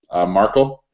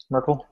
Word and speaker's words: Merkel: and I think they went after I you pronounce her name the the German did German Chancellor Markel Merkel yeah it Merkel and they duplicated her fingerprints